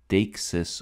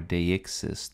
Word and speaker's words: deixis: The last relationship is what's called deixis or deixis, depending on where you live and how you pronounce this.